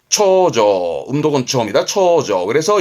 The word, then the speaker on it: 重畳: 중첩돼 있다는 의미의 중첩의 첩, 초조.